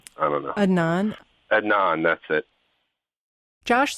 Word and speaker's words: Adnan: not like like he was afraid of uh admin I guess is how you say his name I don't know Anon Adnan that's it Josh says Jay actually never told